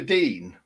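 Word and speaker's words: Digne: very nice very nice did you say luca deane is that how you say it yeah dean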